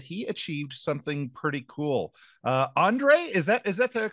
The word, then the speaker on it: Ondrej: Ondrej, is that the correct pronunciation of your name?